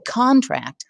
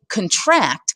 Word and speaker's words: contract: people sign a contract how we stress syllables makes a difference if I say contract I'm talking about a legally binding agreement but if I say contract I'm talking about squeezing something to make it smaller very different poets use